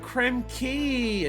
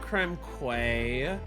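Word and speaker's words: Krem Quay: And so I immediately thought of the video game that I played when I was younger being, "Oh, it's called Creme Key, not Creme Quay."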